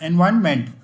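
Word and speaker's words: environment: आर ओ एन देखो आर ओ एन एनवायरन ने का साउंड होता है हल्का सा एनवायरनमेंट ठीक ठीक है?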